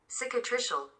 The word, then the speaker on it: cicatricial: This is how you pronounce it. Cicatricial. Okay, cicatricial alopecia.